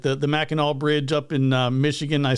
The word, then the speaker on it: Mackinac: Call it the Mackinac Bridge because it's actually spelled that way, even though they pronounce it Mackinac.